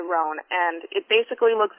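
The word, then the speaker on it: Rouen: a duck is it it's called a ran oh it's spelled r o u n but it's a ran and it basically looks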